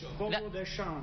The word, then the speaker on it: Fogo de Chão: Fogo de Chão. That's how we pronounce the name of the restaurant over here.